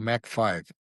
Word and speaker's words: Mach 5: That's basic why you create something called Mac 5. And you guys pronounce it's MAC 5. is like a a C h5 like speed like velocity.